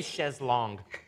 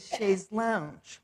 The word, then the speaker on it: chaise longue: I say chaise longue. You know, it's very hard. My mother always said chaise lounge.